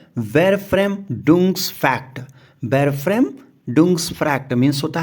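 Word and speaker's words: Verfremdungseffekt: ये वर्ड बोलने में टफ है, इसका प्रोनाउंसिएशन होगा वेरफ्रेम डुंग्स फैक्ट।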